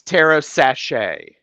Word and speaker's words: TarotStache: then it's tarot sachet. Oh, sachet. Yes. Think of sachet away, or think of the sachet, the lovely scented things that you put in drawers.